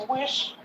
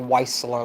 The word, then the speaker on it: Weisler: He's a whistler. Wait, there's a slur? No, I didn't say a slur. I said Whistler instead of Weisler, like his actual name, like how it's pronounced.